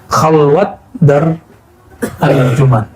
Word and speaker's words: khalwat dar anjuman: bel tambahkan ya n khwat Dar anjuman bukan khalwah ya orang Persia tidak bisa baca ah dalam pelafalannya walaupun di hari-hari bisa khalwat Dar anjuman Kalau bahasa Arabnya khalwah